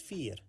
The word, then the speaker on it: vier: 4 in Dutch is vier. The beginning is pronounced like the English letter F. And the ear sounds similar like the last part of the word volunteer. The ear sound. F and ear.